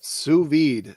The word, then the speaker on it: sous vide: A sous vide cooker. Sous vide cooker. Yep, sous vide.